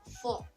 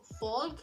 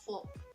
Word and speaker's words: folk: In this word, the L is silent, so you have to say it as folk, not as folk. It's folk.